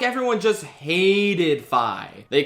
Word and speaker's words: Fi: And with 580 votes, in 41st place, we have Fi or Fee. I don't know. I pronounce it Fi like identify.